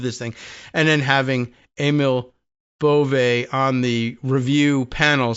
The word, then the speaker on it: Emil Bove: I think I heard the pronunciation of his name the other day as Emil Bove, as opposed to Emile for whatever reason.